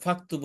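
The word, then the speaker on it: فاكتبوا: এখানে অতিরিক্ত আলিফ আনছে আর এর আগে ফা থাকার কারণে এখানে আলিফটা উচ্চারণ হচ্ছে না ফাকতুবু হয়ে গেছে এখানে ফাকতুবু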